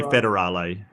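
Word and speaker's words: Fédérale: It'll be Federale. Like federal.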